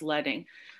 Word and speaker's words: leading: think leing is and it rhymes with sledding it's I know it looks like leading but it said it's pronounced leing um what do we